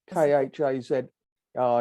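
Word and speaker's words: Khazars: people called the kazars k-h-a-z ah yes ladies nodding she's read it as well now I know that it's pronounced hazardous ah khaza more or less yeah um uh the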